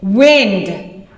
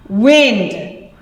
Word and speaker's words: wind: that have different pronunciation now look at these can you see it wind wind i have the pronunciation written underneath it so you can see the difference okay wind that means air blowing at us the other one is wind it goes in a circular motion they are spelled the